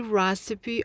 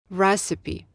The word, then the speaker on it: recipe: It's the only recipe I could ever master. Ладно, это единственный рецепт, который я когда-либо могла осилить или освоить. Обратите внимание на произношение слова «рецепт». Recipe. Recipe.